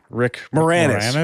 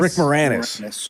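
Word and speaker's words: Rick Moranis: Rick Morannis. Rick Morannis.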